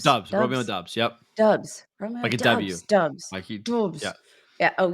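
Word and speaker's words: Doubs: can never say his name is it dubs doobs dubs dubs yup dubs dubs yeah oh yeah throw up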